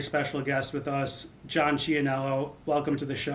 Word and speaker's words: Ciannello: guest with us, John Chionello. Welcome to the show. How are you doing? I'm good. Hey, I like the I like the authentic Italian pronunciation of the last name.